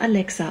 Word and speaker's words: Alexa: Der Name Alexa wird Alexa ausgesprochen. Die Betonung liegt auf der zweiten Silbe.